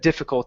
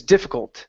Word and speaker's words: difficult: Make sure that you're pronouncing that T at the end of difficult instead of saying, but it is difficult. But it is difficult. Try that.